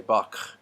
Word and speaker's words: Bach: in the throat, like at the end of the composer's name, Bach. A lot of people would say Bach and say that in the back of their throat.